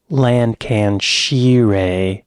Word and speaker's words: Lancashire: He was born in 1965 in Middleton, Lancashire. Lancashire. Lancashire is the correct pronunciation of that.